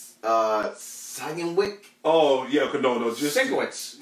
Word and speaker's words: Sienkiewicz: God, I cannot pronounce his name correctly. Bill, Sienkiewicz. Oh yeah, no, just Sienkiewicz. Sienkiewicz.